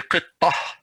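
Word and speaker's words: قطة: But if I'm going to stop, I'm going to say qittah. I'm not going to say qittatu. No, if I'm going to stop, I'm going to say qittah. Ha, pronounces like ha, qittah.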